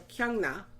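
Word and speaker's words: Kyung-ra: she was friends with kyungra I forgot that R you have to pronounce it like an N because it's followed by the NG so kyungna the the other girl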